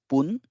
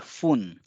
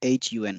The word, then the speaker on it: fun: word for minute is poon or hun so here the pronunciation one has to be careful it is not fun and neither nor it's something between fun and hon so it's hun so if it's actually